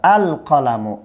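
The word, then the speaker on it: القلم: কলামুনের শুরুতে আলিফ লাম যোগ করলে আপনার আলিফ লামটা একদম স্পষ্টভাবে আলাদাভাবে উচ্চারিত হবে, আল কলামু, আল কলামু।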